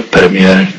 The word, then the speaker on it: premier: Nečas, word, nieuwe premiér Tsjechië. Premiér, pardon, čte se bez toho koncového R.